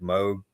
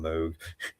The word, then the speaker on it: Moog: Top one's a model D modeled after the classic Moog. Moog. Well, I don't know how you say his name. I say Moog, but yeah, one word. I'm gonna call him Moog.